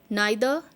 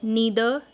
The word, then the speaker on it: neither: Both, and, whether, or, neither, nor, or you can pronounce it as neither nor. Both are okay.